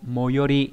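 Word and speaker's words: 最寄り: Và đặc biệt trong chữ tối ghép lại chữ ký, đúng nhỉ, nó đọc là moyori, có nghĩa là gần nhất, đúng nhỉ?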